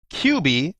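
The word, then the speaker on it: Cubii: And it is a QB and it's spelled C as in Charlie, U as in uniform, B as in Bravo, I as in India again, Junior Desk Elliptical.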